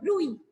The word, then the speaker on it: bruit: This is called bruit. Okay, this is called bruit. The T is silent.